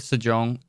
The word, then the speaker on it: Sejong: I like both Sejong and I'm saying that right, correct?